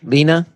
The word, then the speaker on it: Leana: how are you hi Lena is that how you say your name Lena that is that is how you say my name yes all right cool how